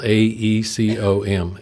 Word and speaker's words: AECOM: capital e a capital a e c o m a e com and that's the way they they pronounce they bought up a